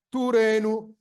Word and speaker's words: Torino: Se leggiamo Torino non come il nome proprio della nostra città, ma come una parola della lingua ebraica, pronunceremo Turenu. Si pensi del resto alla lettura del francese Turin, dove la I diviene praticamente E.